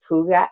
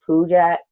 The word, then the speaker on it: Puget: I had to learn how to pronounce it. Puget? No, Puget.